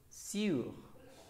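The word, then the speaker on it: sous: Sur. Sur. Bien. Y la siguiente, su. Su. Atención a la pronunciación, ¿d'accord? Sur. Su. Bien.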